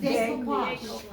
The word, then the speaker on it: decoupage: How you pronounce it? Decoupage. Decoupage It's is French. French. Very French.